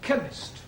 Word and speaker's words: chemist: oh yes please spell chemist Oh blank does not begin with a k' it sounds like it begins with K see H that is